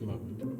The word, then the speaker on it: Mun: Well, so the Mun it's actually pronounced Moon. Is it really? It is, yeah. I'm gonna call it the Mun.